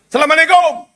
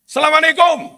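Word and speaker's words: السلام علیکم: " Assalamualaikum." Apakah ada tamu seperti itu? Apakah jumlahnya banyak? " Assalamualaikum." Sapaan seperti itu salah. Itu 'al' bertemu 'sin'. Dibaca sebagai 'as'.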